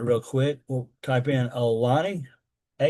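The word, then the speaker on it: Aulani: We'll type in Alani. A U L A NI is how you spell it.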